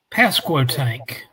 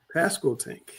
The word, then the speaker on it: Pasquotank: Tell them how to pronounce that name. Pasquotank. Pasquotank.